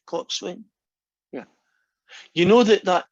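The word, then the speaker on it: coxswain: rowing thing right and i guess you have to know what a cox win is you pronounce it clock swing yeah you know that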